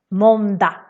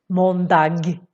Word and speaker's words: måndag: So we put the da in the end instead of saying måndag. Nobody says like that. Nobody puts a G in the end. So just skip it.